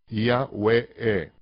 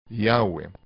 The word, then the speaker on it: Yahweh: Fonéticamente se pronunciaría correctamente Yahweh. Yahweh. Donde Yod es la Ya, He es A, Vav es como una vocal U, y He, E.